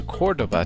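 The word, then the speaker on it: Córdoba: So Kevin and Anne Marie wanted to visit Cordoba, and so we all went to Cordoba together.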